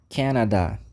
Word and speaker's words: Canada: nós temos o Canadá Canada aquele convite né Canadá Vamos pra piscina É exatamente esse som Canada Canada e quem nasce no Canada a gente chama de